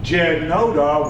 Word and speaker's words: Jednota: uh the Slavic language J's are pronounced wise so Jed Nota was pronounced yed and that stands for